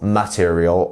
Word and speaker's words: material: So actually it's very important here to know where the stress is. So as you can see, we have our apostrophe and our dot. So it's this bit here that is our stressed syllable. It's It's the second syllable that is our stressed one here. So material, not material or material.